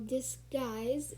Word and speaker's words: disguise: uh g-i-l okay so disguise and you pronounce it as d-i-s-g-i-s-e and not with it you because the u is silent the seventh word we